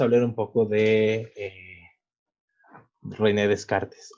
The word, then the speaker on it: Descartes: un poco de a rené descartes o bueno en francés se pronunciaría de caja más o menos pero bueno para fines prácticos rené descartes él nació